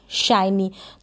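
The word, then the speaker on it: shiny: और एन को न, और वाई है लास्ट में, इसको ई पढ़ेंगे। क्या पढ़ेंगे? इस वाई को ई पढ़ेंगे, शाइनी।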